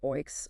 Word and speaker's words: OEIC: OEIC's pronounced oinks are sort of a hybrid in some ways but lean closer to unit trusts in function.